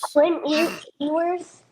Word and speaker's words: Ewers: Evers. Who? What's his first name? I don't know. Is it Edwards? How do you pronounce the coach?